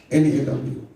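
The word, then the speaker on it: קנה: Before we come to reins, the word possessed there in Hebrew is Ganah, Ganah. You pronounce as Kanu, Kawnaw.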